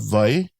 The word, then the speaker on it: wai: And then you see we use that V sound for that. But you can also use Y with a W. But mostly what I hear is VI.